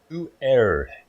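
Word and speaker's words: Pu'er: so it's called p u e r HT Who air it's not the same as red tea it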